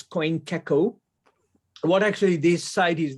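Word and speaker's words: CoinGecko: called um this is coin taco you can just you can pronounce it differently but uh it's coin kecko what actually this site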